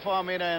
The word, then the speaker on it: Faumuina: The Samoan pronunciation pronounces every letter. There are no silent letters, so it's Faumuina.